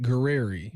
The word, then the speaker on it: Guerrieri: What's how you pronounce his last name? Oh, Matt Guerrieri.